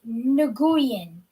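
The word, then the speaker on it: Nguyen: there we go sorry i am receiving my pronunciation i was right nagoyan so nagoyan um so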